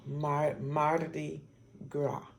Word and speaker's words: Mardi Gras: words Marty Marti and gra and the S is silent in Graf so Marty Gras and it's also French it's also a French